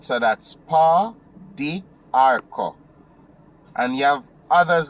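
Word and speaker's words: pau d'arco: And I'm going to spell it for you. P-A-U space D apostrophe A-R-C-O. Arco. Right? So that's pa, di, arco.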